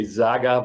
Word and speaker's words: Zhaga: So in our European, we say Zhaga, but the Chinese have more like a Zhaga type of pronunciation.